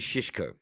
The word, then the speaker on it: Šeško: is the way they say you bring to pronounce it it's not playing why is it not playing i mean benjamin is shishko okay there's a at the beginning that accent